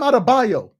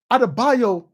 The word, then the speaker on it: Adebayo: he doing that bam adabayo adebayo is a euroba nigerian name just because it's easy